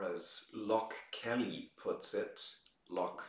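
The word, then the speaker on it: Loch: lock Kelly puts it lock like the links in Scotland l-o-c-h Kelly well you know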